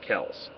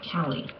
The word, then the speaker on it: Kelley: and Genevieve and Scott Kells. My pronunciation correct, Deborah, on those cases? No, it's Mary Elizabeth Nunes and Genevieve and Scott Kelley. Okay.